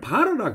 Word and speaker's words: bar: 여기서는 카페를 바르라 그러다. BAR. 여기서 R 발음을 확실하게 발음을 하더라고요. 바르라 그럽니다.